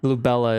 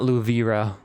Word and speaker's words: Lubella: So that's why Lubella is spelt incorrectly. She's not Luvira.